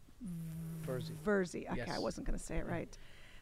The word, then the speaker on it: Virzi: Virzi.